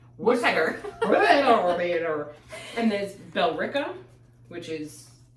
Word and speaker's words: Worcester: Because Worcester, which is spelled like Worcester, W-O-R, but it's pronounced Worcester.